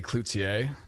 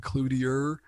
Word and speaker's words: Cloutier: yeah right like the the really pretentious way to say it would be cloutier which is the most accurate i guess but i i've heard all kinds of pronunciations but i've heard clutier which is harder to say but cliche is i